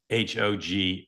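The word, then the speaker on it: Hoag: H O G U E right h O G U E Hog H O A G Oh, sorry.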